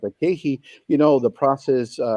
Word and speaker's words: KeHE: this offline, which is KeHE. KeHE, it's spelled K-E-H-E.